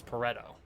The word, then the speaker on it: Pareto: which i actually discovered i am pronouncing incorrectly because it's italian pronunciation is different i think the italian pronunciation is pareto but i'm going to continue to use pareto because that's what i know it as and i apologize to